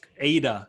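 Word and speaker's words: AIDA: It's ADA, that's how you say it.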